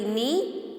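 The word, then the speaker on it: knee: के N double E नी students इसका pronunciation नी होता है जबकि हम के लिख रहे हैं स्टार्टिंग में बट ए के जो है वो साइलेंट होता होता है ऑलराइट 15 हमारी जो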